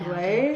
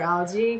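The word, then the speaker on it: Aglaea: I low-key just trying to call her Algie because of the way her name is spelled, but I shouldn't.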